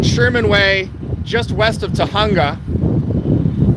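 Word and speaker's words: Tujunga: Way, just west of Tahunga, spelled with a J, for those of you that are not inclined on Espanol.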